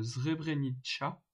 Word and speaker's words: Srebrenica: En bas à droite, vous avez une petite image qui parle d'un cimetière de Srebrenica, ça se prononce comme ça.